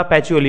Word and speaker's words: Pacioli: Luca पॅचिओली एवढं लक्षात ठेवलं तरी चालेल. PACIOLI. पण त्यांचं स्पेलिंग प्रोनाऊन्सिएशनमध्ये पॅची येतं.